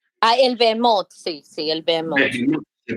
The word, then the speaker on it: Behemoth: Usted dijo que el Leviatán y el Behemón es el mismo. ¿Es correcto? No, el Behemoth. El Behemoth, sí, el Behemoth. Behemoth, se pronuncia así.